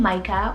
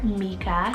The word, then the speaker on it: Mica: i have the name micah or mika spell m-i-c-a mika or micah you can go with either pronunciation depending on where you live and it's hebrew originated